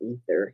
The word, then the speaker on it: aether: When your soul is like air, aether, it's aether and light. I think it may be ether, and you don't pronounce the A.